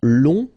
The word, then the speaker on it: long: the final J will become long okay so phonetically it's long g so long masculine long feminina and this is the I hope it was uh interesting and useful.